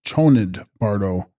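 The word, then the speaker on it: ཆོས་ཉིད་བར་དོ: Text: Chosnid bardo, pronounced Chonid bardo, intermediate state or state of uncertainty during the experiencing of reality.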